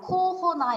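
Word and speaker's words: corona: 코로나를 뭐 프랑스 발음으로 읽으면 그냥 코호나 이렇게 하는데 저 코로나라고 많이 안 하고 그냥 코비드라고 하는 것 같습니다.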